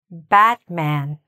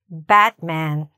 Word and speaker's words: Batman: If you can say this, you've got that short A sound because it's there in two places. All right? Are you ready? Batman. Okay, let's do it again. Batman.